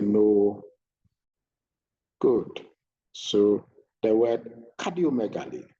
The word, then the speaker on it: cardiomegaly: So the word cardiomegaly, how is it pronounced?